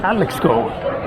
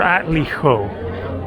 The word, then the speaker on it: Atlixco: And then I went by Uber from Puebla, 45 minutes up to Atlixco, or Atlijo. Not quite sure how to pronounce that one because the X is normally pronounced like an H.